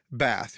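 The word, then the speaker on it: בת: it's h132 three and the transation is Bath bath we pronounce it bath that's the word and it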